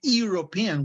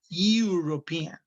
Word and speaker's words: European: the e but here we don't say european we say european european like university european okay do you